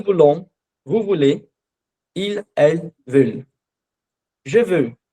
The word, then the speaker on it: veulent: Esse L, você pode tentar falar veulent e prender o L no final. Então fica velha, aí você começa a colocar o E um pouco mais pro lado, fica velha, e aí você consegue pronunciar a palavra certinho, tá?